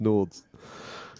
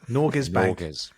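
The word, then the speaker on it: Norges Bank: hold just let's just see something here you pronounced Nords what are you doing NES it's norz Bank noras bank I'll put a link to the correct pronunciation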